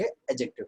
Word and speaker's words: adjective: तो एडजेक्टिव नहीं कहेंगे, एडजेक्टिव कहेंगे। क्या कहेंगे, एडजेक्टिव। तो डी साइलेंट करके बोलना।